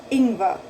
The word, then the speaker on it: Ingwer: Often, if you have ER in the end, you pronounce it as an A and not an R. Usually you would say Ingwer, Ingwer.